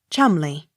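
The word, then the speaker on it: Cholmondeley: h o l m e l e y chumley c h o l m o n d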